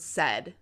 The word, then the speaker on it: said: Let's examine the word said, as in, Mom said to take off your shoes. Said rhymes with words you know, like head and bed.